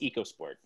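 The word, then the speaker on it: EcoSport: has convinced everyone to pronounce it echo it's pronounced echo sport echo sport and yeah that just makes you wondering it's eco sport i was gonna try to find a first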